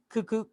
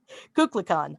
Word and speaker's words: Kukulkan: At sunset on the equinoxes, the sun's descent from the top of Temple Cuckoo. It's You want Kukulkan. Kukulkan.